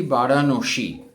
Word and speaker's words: বারাণসী: আজকে থেকে আমরা বলি বারাণসী।